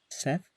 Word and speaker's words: Seth: Osiris, god of the Nile; Ra, god of the kingdom; Ta, god of craftsmen; Seth, I think that's actually pronounced Set, god of destruction; Bast, goddess of the home.